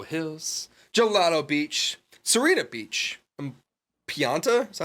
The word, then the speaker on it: Pianta: Pianta? Is that how you say it? Pianta Village?